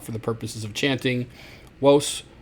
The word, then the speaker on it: vos: I generally just have my students just do westrum. And yes, I know it sounds like maybe have a speech impediment. I did when I was in the third grade, and I could not pronounce my R's, and that's exactly how I would pronounce my R's, like Worcester. Let's go to the park.